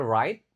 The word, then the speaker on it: right: Right now, ingat cara bacanya right tidak dibaca G-nya.